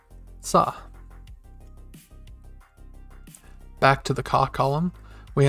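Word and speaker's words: さ: if you look at it the right way pronounced sah back to the column we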